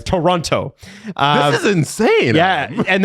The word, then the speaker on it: Toronto: Of course back then you you you pronounce the second T. Yes. Toronto.